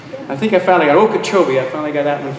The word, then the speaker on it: Okeechobee: of the things we've had a hard time pronouncing is all the various names of these towns. I think I finally got Okeechobee.